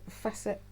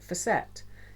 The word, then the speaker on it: Fassett: this is kef kef facet um Kate at Kate at the last homely house she pronounces it facet Kate k for set and she has interviewed